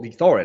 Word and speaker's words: Thorin: So it's still Thorin, like you can still pronounce it Thorin, but I'll put 3 O's in, and therefore no one will have thought of that on any of these websites.